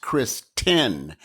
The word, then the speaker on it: Christynne: My name is actually pronounced Christynne, T-Y-N-N-E.